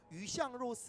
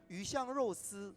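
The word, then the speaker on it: 鱼香肉丝: 붙어 있기 때문에 그런 스촨 음식 중에서 뭐 중국어로 하면 뭐 위샹로스 하는 어향육사, 그게 네네. 발음 한번 다시. 위샹로스.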